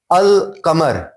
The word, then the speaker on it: القمر: القمر, ہم نے ال بولا پھر ہم نے قمر بولا.